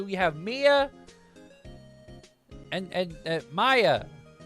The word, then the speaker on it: Maya: have Mia and and Maya it's Maya not Maya Maya Maya and Mia Maya yes yes Maya like the ancient Mayans if you say may